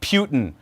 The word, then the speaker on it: Putin: Look, Putin, good or bad? Bad. It rhymes with Rasputin, doesn't it? Bad.